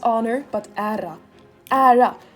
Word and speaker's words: ära: this all the time not honor but era era era to be fair I'm not Swedish I'm half